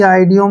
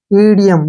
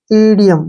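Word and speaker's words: idiom: एम ठीक है ना इसको कभी भी आईडी ओम नहीं पढ़ना है इसको पढ़ते हैं हम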